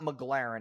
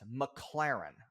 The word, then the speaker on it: McLaren: pisses me off because he says the name wrong like eight times in a row it's not McLaren it's McLaren Okay so okay we're moving